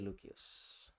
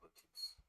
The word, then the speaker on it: Lucius: Who's going to be Lucius? I'll pick Lucius. You don't have to call him Lucius. I'm just doing that 'cause I'm being pedantic about the Latin pronunciation.